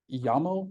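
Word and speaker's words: YAML: um and this is part this is called yamoo it's it's spelled like yo this is the part of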